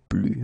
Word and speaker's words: plus: So the first example is plus et plus. Okay, so you can see that I don't pronounce the final S.